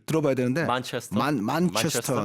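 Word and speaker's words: Manchester: 네, 요것도 권주현 씨에게 한번 발음을 들어봐야 되는데 만체스터.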